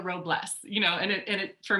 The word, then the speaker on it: Robles: my name right so i've been called robles many many times which is fine all right but it's robles you know and it